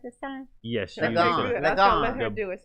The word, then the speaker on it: Ligon: Ligon.